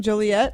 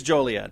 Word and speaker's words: Joliet: It is Joliet, but it's illegal to mispronounce that name in the city of Joliet, Illinois. And I think it's because it looks very much like toilet. Joilelet, but it's Joliet.